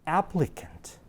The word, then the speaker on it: applicant: 강세가 앞에 있어요. 어떻게 읽을까요? 네, applicant. applicant. 그렇게 읽습니다.